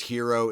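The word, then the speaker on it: Hiro: Ben Folds 5 because Hero is spelled H I R O and it's Japanese man's name so it doesn't really count but it kind of counts because it's pronounced like Hero.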